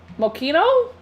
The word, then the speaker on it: Moschino: Pronounce the ch like a K. Moschino?